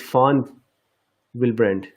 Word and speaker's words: von Willebrand: absolutely very interesting so B is pronounced as F so it is font will Brent very interesting and foreign will brand or von Willebrand as I'm saying he